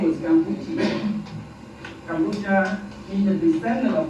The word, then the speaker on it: Kampuchea: But in Khmer, which is our language, it's called Kampuchea. Okay, the English mispronounced Kampuchea again, because they can't say Kampuchea.